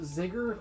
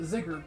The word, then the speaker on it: Zygarde: Do you pronounce it Ziggard or Zygarde? Zygarde. I pronounce it Ziggard because it's based on North Norse mythology.